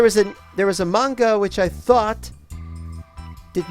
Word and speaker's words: manga: the thing about manga we call it manga but the prep pronunciation is actually manga and when they first